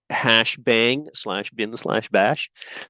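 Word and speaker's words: #!/bin/bash: The first line, we pronounce that #bang/bin/bash.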